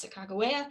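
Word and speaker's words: Sakakawea: as you can see her name is spelled quite differently than we spell it here in idaho um and also pronounced the cagaway um and that's uh that is the hadas of the traditional hadata spelling of her name and that means bird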